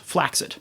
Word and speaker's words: flaccid: He assumes that you understand that flaccid is pronounced flaccid. But through a process where we transfer the pronunciation of one word over to another, flaccid looks a lot like the word placid. And so it seems to have picked up a pronunciation there.